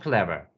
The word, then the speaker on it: clever: For example, the word clever. Clever. The first syllable is stressed, and the second syllable is unstressed. Clever. We don't say clever. We say clever.